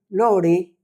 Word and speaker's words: lore: Eh, lor lore pronunciado así, yo no sé inglés, aprendí algunas cosas.